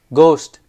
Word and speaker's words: ghost: is silent column n is silent receipt p is silent ghost um H is silent wrist W is silent